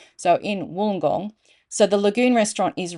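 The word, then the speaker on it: Wollongong: and go that's pronounced wenong it's not it's pronounced wool as in sheep's wool so in woolong so the Lagoon restaurant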